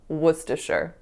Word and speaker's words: Worcestershire: any meaningful context, but it is in fact pronounced Worcestershire.